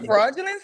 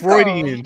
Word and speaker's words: Freudian: No, fraudulent was right, I think. No, it's not. What is Freudian slip. Freudian slip. Right, my bad. I went up. My bad. I said Freudian.